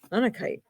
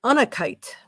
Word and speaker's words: Unakite: What are the metaphysical properties of Unakite? Not kite, no. What are the metaphysical properties of Unikite?